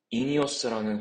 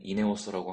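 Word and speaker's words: INEOS: 영상을 오랜만에 키게 됐습니다이 회사는 인이어스라는 회사이고요 한국에서는 이네오스라고 하는데 정확한 발음은 인이어스라고 하는 거 같고 그리고이 차량 이름은 그런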